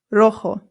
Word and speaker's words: rojo: Our next one is rojo. Rojo. Rojo. Remember that the J makes a h sound.